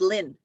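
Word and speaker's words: Linh: it's the same name it's pronounced the exact same way lin l-i-n-h or l-y-n-n right so these are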